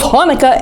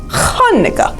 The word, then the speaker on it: Hanukkah: it with me actually both hanukkah and hanukkah are right the holiday's name is hebrew so there were different ways to spell it and say it in english hanukkah chanukah thanks applesauce says lucy